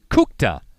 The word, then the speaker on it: Kukta: Want to correct my pronunciation. It's Kukta with our quarterback, Kukta.